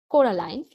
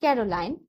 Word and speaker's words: Coraline: name wrong you know they kept saying Coraline not Caroline not Caroline at all he picked up a